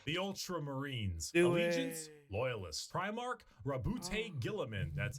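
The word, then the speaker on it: Roboute Guilliman: Primarch, RWBY Gilliman.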